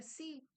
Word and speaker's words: se: Esse si que a gente pronuncia si, mas na verdade a gente escreve se é, mas eu pronúncio si sim.